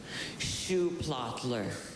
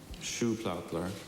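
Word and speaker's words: Schuhplattler: Shoe plottler. S C H. Is this the only pronunciation? It's the only one that I have. Shoe platler.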